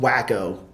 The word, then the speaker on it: Waco: We may what have about Waco? We did not go to Frisco or Waco. Frisco's where I live. It's pronounced Wacko.